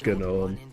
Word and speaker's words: gnome: Maybe pronounced that way, but the G definitely isn't pronounced. That mean like in biology or genome? Um, I don't I don't know. It's It's just definitely like anybody in the Linux world knows that it's pronounced gnome for that one.